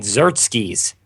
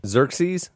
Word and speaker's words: Xerxes: the a Brazilian actor who uh he played Zerkis in the 300 movies. Xerxes.